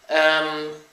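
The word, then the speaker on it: ewe: him in the future um some words from scotland or some thoughts first of all i did not know that there is something called a u it's spelled e w e and it's the opposite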